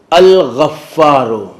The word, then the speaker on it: الغفار: کا ہو گیا ہے۔ غین اس کا تلفظ الگ ہے، گاف اس کا تلفظ الگ ہے۔ ہمارے ہاں انگریزی زبان